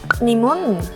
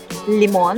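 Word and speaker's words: лимон: Limon. Limon. Limon. Lemon. Limon. Limon. Limon. Limon. Limon. Limon. The O is stressed.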